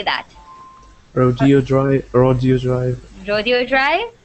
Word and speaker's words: Rodeo: very very popular boulevard and then you have rodeo drive that's where all the designer shops are in in los angeles and a lot of people say rodeo but it's actually pronounced rodeo drive okay awesome